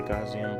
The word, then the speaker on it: Gaussian: It has you pick the blur, basically the Gaussian blur. That's how you pronounce that.